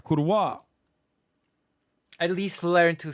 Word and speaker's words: kurwa: after all that's right kurwa at least learn to say the word please like at least learn to pronounce the word it's with a hard V bro on the Poland